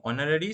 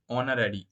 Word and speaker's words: honorary: tell you that uh actually honorary starts with the letter H but it's it is pronounced like a vowel right honorary o n o r a r y honorary right not the age